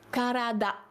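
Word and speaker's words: 体: comment on prononce alors la prononciation du corps c'est karada voilà pour ces petits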